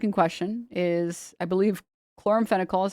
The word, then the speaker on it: chloramphenicol: The antibiotic in question is, I believe, chloramphenicol is how you pronounce it.